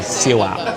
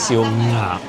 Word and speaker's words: 燒鴨: So colloquially, we say siu ap, like without the ng, just siu ap. But the correct way to say it is siu ngap.